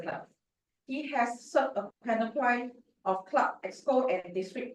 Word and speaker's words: panoply: The stress is on the first syllable, panoply.